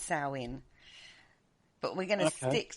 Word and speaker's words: Samhain: as saowin or sandwich a lot of people pronounce it samhain and it's not it's salwin but we're going to stick to halloween because